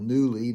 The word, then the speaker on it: Nuuly: Well, one of the biggest clothes clothing women's clothing rental companies is a company called Nuuly. Now, that's spelled n u u l y. Play on words there, newly.